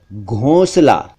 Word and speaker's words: घोंसला: एक शब्द है घोंसला, नेस्ट, घोंसला को कई बार घोंसला कह दिया जाता है जो कि ठीक नहीं है, सही उच्चारण है घोंसला।